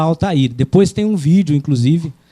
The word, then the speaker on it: Altair: foi chamado de alir algumas pessoas falam alter né mas a pronúncia tanto faz aqui no Brasil a gente vai falar Altair Depois tem um vídeo